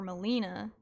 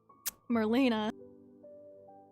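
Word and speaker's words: Merlina: ones we've seen are milena you know Merlin I can say her name correctly Marlena so I recently last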